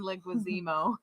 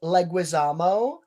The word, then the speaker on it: Leguizamo: it was scary my favorite actor is john linguazimo did i just pronounce his last name wrong like was jim the correct pronunciation of his name is leguizamo john leguizamo he was the villain in it